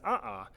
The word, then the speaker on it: a'a: A'a lava is pronounced a'a.